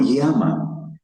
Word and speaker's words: yama: La la cuando ponemos y en español no se pronuncia ya como lo hacemos en español. Es es una eh es la utilizamos la y para transliterar un dictongo, un sonido suave y se pronuncia i. Y ama, no llama, que eso ha generado